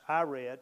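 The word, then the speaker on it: Irad: verse 18 was i i r a d which i pronounce i read which is pretty close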